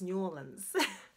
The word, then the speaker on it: New Orleans: And actually, it's pronounced New Orleans.